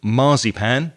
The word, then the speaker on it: marzipan: at the cake underneath notice the stress that we put on the word marzipan which is different from the way spanish people say it so we have two